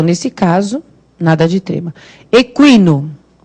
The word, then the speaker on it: equino: Equino. Aí o U tem som, né?